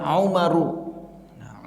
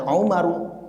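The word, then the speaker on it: عُمَرُ: Jadi nanti tanpa ada harokat kita hapus, misalkan bacanya Umaru, karena kita sudah belajar. Ini ism ghair munsharif, maka kita tanpa ada harokat pun bacanya Umaru. Maka tidak boleh membaca Umarun.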